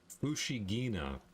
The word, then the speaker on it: Fushigina: Anyway, there's a new hole in Fushigina, hard G.